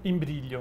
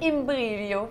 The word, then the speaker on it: Imbriglio: Imbriglio. Imbriglio. Puis on ne prononce pas le G, c'est ça? On le prononce, mais il faut être italien pour le savoir.